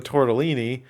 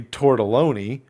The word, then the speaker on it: tortelloni: then I saw that it was spelled with an O. So I leaned over to you and I was like, I almost made a goddamn fool of myself because it's clearly tortelloni.